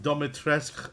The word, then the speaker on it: Dimitrescu: Is pronounced Dimitrescu, as I've been told.